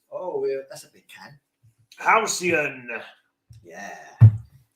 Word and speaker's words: halcyon: Halcyon? Halcyon?" Apparently, it's pronounced halcyon.